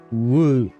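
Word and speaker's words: 五: The number five is pronounced woo woo woo.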